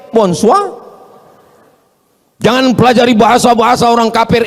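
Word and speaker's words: bonsoir: Emangnya bahasa Perancis mudah tulisannya bonur bacanya bonjou. Bon soir, bonsoa.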